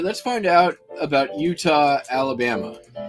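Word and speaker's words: Eutaw: restaurant was in is utah alabama which is spelled e-u-t-a-w oops yeah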